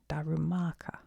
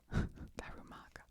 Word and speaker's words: Darumaka: Darumaka. And wait, let's put the emphasis correct. Darumaka. Darumaka.